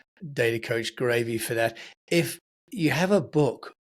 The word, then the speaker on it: Graeve: If people want to get hold of you, uh it's a bit confusing because you call yourself Data Coach Gravy. Uh, but that's because of your surname.